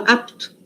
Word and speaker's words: apto: Cuidado, porque não é apito. O apito do juiz tinha um i. Apito. Esse aqui não é apito. Esse aqui é apto. A sílaba forte está no A e o P é mudo.